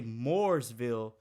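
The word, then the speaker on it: Mooresville: saying it right yeah say if you say Moorsville then you're talking about the one by Charlotte if you say morisville then you talking about the one between Raley and Durham like I struggle saying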